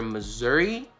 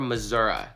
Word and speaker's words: Missouri: with was from there this Midwestern State actually has two pronunciations that are acceptable Missouri and Missouri we did it guys